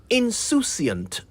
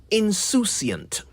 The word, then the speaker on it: insouciant: This is one of the words the English inherited from the French, who spell it the same way but pronounce it insouciant.